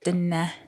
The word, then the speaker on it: Dene: yeah, so I think I it's said Dine, so my Yeah. bad. I didn't know how to pronounce Yeah, it. Dene. yeah, it's Dene.